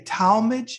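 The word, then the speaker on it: Tallmadge: and it looks like you were born in do you say talmadge is that how you pronounce it ohio yeah you got it okay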